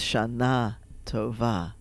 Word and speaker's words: Shana Tova: Right, so it's Shana Tova. Right? So Hebrew's accent's typically the last syllable, but not always.